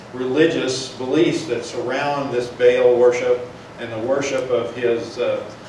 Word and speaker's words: Baal: And now we've brought in this whole new religion of the worship of Baal, is I think the more proper way to pronounce it, or we pronounced it Baal, but it's Baal, and this worship of